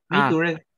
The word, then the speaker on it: mature: En la pronunciación se pronuncia mature. Anoten otro truco de pronunciación. ¿Dónde está mi tablita? Aquí. Todas las palabras que terminen en ure, pronúnciala como si fuera chair.